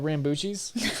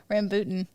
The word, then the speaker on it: rambutan: We had Rambuchis. Is that how you say it? No, Rambutan.